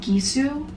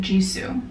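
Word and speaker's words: Gisou: I think it's called gisu I would pronounce it jisoo but I think it's gizu or something foreign I put on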